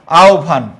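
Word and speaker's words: আহ্বান: অন্যটা হবে মনে রাখবা হবের পূর্বে যদি অকার অথবা আকার থাকে তাহলে হবরটা এরকম হবে লক্ষ কর আও এইযে হ এর জায়গায় হবে ও আর পরে বটা ভ আওভান হ্যা আওভান আর হবের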